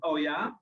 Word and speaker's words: Oja: time that I founded Oja. And Oja, well, if you pronounce it in Dutch, it's called Oja, and it means something like, oh, really?